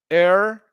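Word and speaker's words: heir: We have air, heredero, air. It only sounds like that. It sounds like air. Yes, like air.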